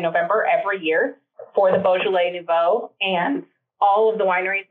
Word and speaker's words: Beaujolais Nouveau: Am I pronouncing it correctly? Beaujolais Nouveau. Beaujolais Nouveau, yes.